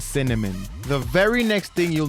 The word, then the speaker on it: CNMN: traits and names like peppermint macaron and cnmn pronounced cinnamon the very next thing you'll notice about Hi-Fi